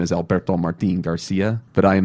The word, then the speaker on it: Alberto: Growing up in New Orleans, the T's are sometimes pronounced as D's, so my friends would call me Alberto instead of Alberto.